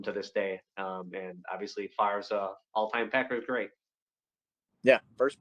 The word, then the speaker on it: Favre: Here we have the 91 Stadium Club Brett Favre rookie card. This card is notable because, of course, they spelled his name wrong. Spelled F-A-R-V-E like it sounds.